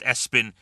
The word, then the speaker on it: ESPN: Espen. All right, not the worst thing you've ever heard. Here's the problem. It's spelled ESPN, like the channel. Yeah, pronounced Espen, but spelled ESPN.